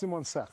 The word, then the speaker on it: Simonsig: Today, SimonSig. Am I saying it right? You're saying right, Nomstar? Yes. SimonSig. SimonSig.